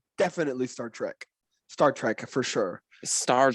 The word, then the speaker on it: Star Trek: oh track star trek i've never heard anyone say that in my life it's definitely star trek it's star trek how do you spell it hold on we're not going to argue about this i literally have a poster in my room it's t-r-e-k i mean i don't